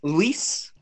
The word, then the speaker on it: Luis: it can be ew I would say my name is lease which is one syllable but a lot of